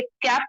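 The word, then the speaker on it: cape: कैप पढ़ रहे थे, लेकिन जब ई आ जाएगा तो ए की आवाज बड़ी हो जाएगी, लंबी हो जाएगी, ए। तो हमने फिर इसको, और ई साइलेंट हो गया था तो इसको हमने केप ऐसा पढ़ा था, केप, है ना।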